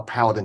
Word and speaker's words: Paladin: Okay, so now this brace, the Paladin Brace, am I pronouncing it right? Paladin. Yeah, Paladin.